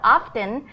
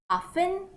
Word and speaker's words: often: how to use how often to ask questions about frequency of events as you may wonder already how do we pronounce this word Oh F een some of your teacher might say often with no T sound